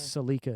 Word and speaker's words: Celica: do you say Toyota Toyota Celica is that how you say it here it's silica in Canada that's wrong but it's not they just that's how it's supposed to be out it's actually spelled